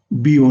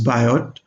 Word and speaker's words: Biot: HL by K is BO number. In French it is BO, in English it is Biot.